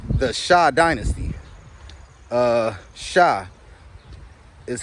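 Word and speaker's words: Xia: Shah is how you pronounce it. It's spelled X-I-A, but it's actually pronounced the Shah dynasty.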